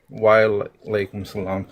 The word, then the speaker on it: wa alaikum salam: Wa alaikum salam.